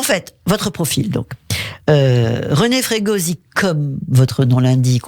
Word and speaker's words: Fregosi: René Frégosi, comme votre nom l'indique, on dit René Frégoz, parce qu'on prononce pas la dernière voyelle en Corse.